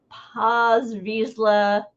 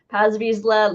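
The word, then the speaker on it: Paz Vizsla: there is a uh pause Vizsla that's how I say his name it may be Paz Paz visla limited edition 3000 this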